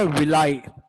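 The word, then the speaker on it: villi: Small intestine में बहुत सारे कॉइल्ड स्ट्रक्चर प्रेजेंट होते हैं, लाइक दिस, इस तरीके से, जिनको हम नाम देते हैं विलाई। कुछ लोग इसको विली भी प्रोनाउंस करते हैं, है ना, विलाई या विली।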